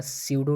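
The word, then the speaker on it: pseudo: इसका रहेगा स्यूडो translation. P इसमें साइलेंट रहता है ना, तो स्यूडो पढ़ते हैं इसको.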